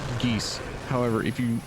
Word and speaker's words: geas: know the GEOS and the name which is not how you pronounce it it's just called geese however if you pronounce